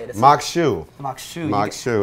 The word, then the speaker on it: Maque Choux: So we got some Maque Choux we're going to be making. Exactly. How do you say it? I like the way you say it. Maque Choux.